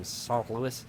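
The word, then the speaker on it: St. Louis: time um when I was driving home from s Louis um which is how you say that um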